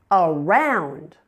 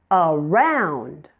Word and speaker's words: around: Around. Around. Now the second syllable is the primary stress syllable. Round is louder and longer with a clearly understandable vowel sound.